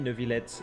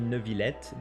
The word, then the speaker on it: Neuvillette: So a lot of people are wondering if we pronounce it Neuvillette or Neuvillette. In this case, it's going to be Neuvillette.